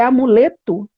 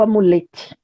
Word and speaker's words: amuleto: É amuleto ou amulete? Como é que pronuncia?